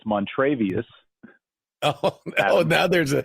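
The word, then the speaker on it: Montravius: But I think we can all agree that Montavious, is that the best name in football right now?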